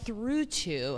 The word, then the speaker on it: Thrutu: yes it's very exciting it's called through two have you guys seen this yet through two is spelled t HR u t uu u i between trulio and